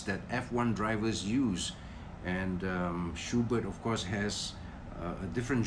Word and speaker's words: Schuberth: Apparently, the German pronunciation for Schuberth is Schubert, okay? There's no TH sound in Schubert.